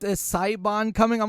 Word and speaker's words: Siobhan: So then I sent him a link of a video, and some guy was pronouncing it in an Irish dialect, and I was like, Siobhan. It's Siobhan.